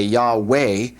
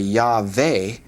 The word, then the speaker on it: Yahweh: And so if some people say Yahweh and some say Yave, that's because of the vav, and they're pronouncing it either with a V or a W.